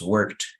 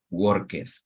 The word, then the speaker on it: worked: worked so you see you will pronounce worked and not work worketh right so in this